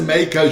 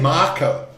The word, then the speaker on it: Mako: I got to say it like the New Zealanders say cuz when I say Mako for me it's a Makeo shock, right? But they say Marco.